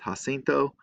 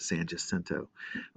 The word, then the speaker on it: San Jacinto: pronounce it different ways um it should be pronounced ha cinto i grew up in san jacinto county where we always pronounced it san jacinto instead of jacinto as it would be in